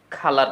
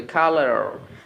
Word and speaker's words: colour: এবং এটা হচ্ছে ব্রিটিশ অ্যাকসেন্ট। এবং আমেরিকান অ্যাকসেন্টে যদি এটি বলতে চান, তাহলে আপনাকে বলতে হবে কালার, কালার।